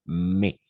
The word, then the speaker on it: mais: connecteur logique héros d'accord on va simplement prononcer mais mais François François verger a